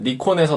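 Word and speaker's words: Nikon: 이거는 니콘에서 나온, 외국분들은 나이콘이라고 발음을 하더라고요.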